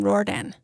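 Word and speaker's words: Riordan: Rordan.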